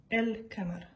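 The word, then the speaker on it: القمر: Ici, on va dire Ash-Shams et ici on dit El-Kamar. Parce qu'en fait, vous allez voir que la différence entre ces lettres lunaires et ces lettres solaires, c'est la prononciation.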